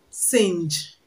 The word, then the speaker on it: singe: Now, this word is pronounced singe. It has ng together in it, but does not have the sound ng because the g is pronounced g.